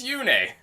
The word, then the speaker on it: Yune: trust hiro's pronunciation because makaya calls yoone yoon in it and we know it's yoonai but then in the actual radiant on games it's yune yeah so uh my take